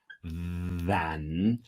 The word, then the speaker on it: than: component reusability than no the N is a strong pronunciation in the comparison than now the th has a minc vibration you put your teeth here than but I want to hear a very very very strong n better at component reusability